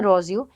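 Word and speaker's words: Rousseau: है उसके फादर हैं रोजू हिंदी में उनको रूसो भी बोला जाता है उनके नाम को प्रोनाउंस किया जाता है तो रोजू कहते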